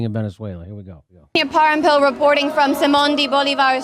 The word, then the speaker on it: Parampil: Parampil.